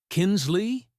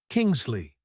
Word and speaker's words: Kingsley: Amara Kinsley, he mispronounced, dragging her name like a joke. Kingsley," she corrected, her tone even.